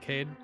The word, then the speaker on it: Kaede: First thing in the interview, Kaede, how do you pronounce your name? Is it Kaede? I pronounce it like Kaede because Okay, I'm from that's Spain, and in Spanish is Right. Kaede.